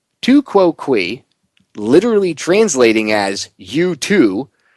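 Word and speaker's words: tu quoque: Pronounced tu quo qui, literally translating as you too, this fallacy is also known as the appeal to hypocrisy.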